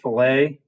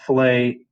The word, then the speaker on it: fillet: make a fillet now normally this is a french word and you pronounce it filet um i'm actually not messing up here uh you call it fillet anytime except when you're in engineering you call it a fillet and a philip